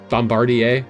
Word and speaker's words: Bombardier: 500 Miles hey real quick how do you pronounce that airplane again Bombardier Bombardier Bombardier good to know France your language